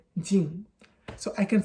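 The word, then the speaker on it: 人: And in Mandarin, I'm saying Mandarin when I say Chinese. You say that as ren, so that's how you pronounce it. In Japanese, this same character can be read as hito, it can be read as nin, and it can also be read as jin.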